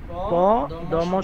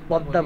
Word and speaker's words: পদ্মা: উদাহরণস্বরূপ পদ্মা, প দম সংযুক্ত আকার, অথচ আমরা পদ্মা বলি, পদ্মা বলি না। মটা লিখায় আসবে কিন্তু উচ্চারণে আসবে না।